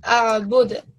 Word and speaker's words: أعبد: A'bud. And we give a jerking sound at the end because it is a kalkala letter, yeah?